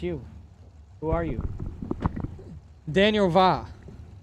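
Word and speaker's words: Via: Daniel Va. Spell the last name, though. It is spelled V-I-A.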